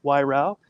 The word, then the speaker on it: Weirauch: And I'm here with 3 of my favorite people, Christina Hawley, Angelina Frost, and John the Millenial, Weirauch, rhymes with eyebrow.